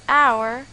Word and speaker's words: hour: our and IRAs is a silent letter we pronounce it as our and IRAs in instead it would be awkward